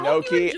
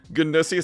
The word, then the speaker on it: gnocchi: I'm sorry. It's pronounced like gnocchi. Thank you, Annie. Food. I don't think I could type this all. Okay, fair enough, Noodle. I'm pretty sure she'll call it. Ganussi sounds like a disease.